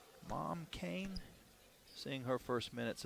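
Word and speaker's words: Mam: 66 freshman from Sagal it's spelled m a m but pronounced mom mom Kane seeing her first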